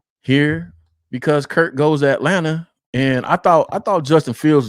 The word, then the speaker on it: Atlanta: Anyway, and it's, by the way, for the Chicagoans out there that y'all don't pronounce y'all R's, we don't pronounce the T in Atlanta. It's Atlanta.